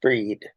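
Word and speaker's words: Bríd: like the Christmas tree Bridgette pronounced breed from the look of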